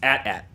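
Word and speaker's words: AT-AT: the Imperial Walkers cuz they were actually like pronunciation it's at at they say it's atat it's at what do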